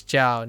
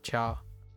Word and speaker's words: 叫: It's Jiao, not Chao.